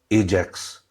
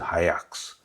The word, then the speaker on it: Ajax: I thought it was Ajax, but they pronounce it Ajax.